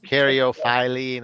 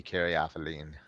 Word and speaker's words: caryophyllene: Or is that the one with multiple Yes, pronunciations? caryophyllene, I believe, Yeah. is the proper pronunciation, but to me, it will always be caryophyllene.